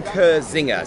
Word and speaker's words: Kirzinger: are here with ken now how do we pronounce that cr zinger zinger yeah ken kurzinger so yeah i'm being dyslexic i've seen z's